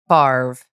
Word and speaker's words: Favre: know, researching for today's episode is that he pronounces it barv.